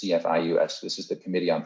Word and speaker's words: CFIUS: Now, when we're talking about investment, you may have heard about this in 2018, this group called CFIUS, that's how this is pronounced, CFIUS.